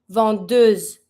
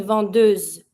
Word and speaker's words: vendeuse: I need to pronounce my S now because it's ahead in front of the mute E. It's between two vowels, so S will take the Z sound.